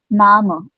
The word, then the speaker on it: Name: So maybe my mama is Sushi Sharma right so pronunciation mine nama not name it will become nama so m nama is